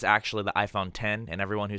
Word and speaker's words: iPhone X: just as wrong as people who say Reese's because it's the iPhone 10 its Reese's its Reese's